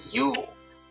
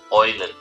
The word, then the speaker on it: Eulen: So directly after the King of Chads, we have the Yules, or how they are correctly pronounced in German, Eulen. Not Yules, or Eules, Eulen.